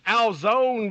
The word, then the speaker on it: DAZN: What's DAZN rhyme with, Jesse? Alzone, baby.